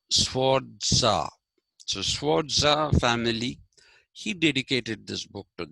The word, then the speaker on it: Sforza: So he first identified the Sforza family, Sforza. Sforza is like you pronounce, you don't say pizza, you say pizza. Okay, like writing TZA, pizza, right? So Sforza.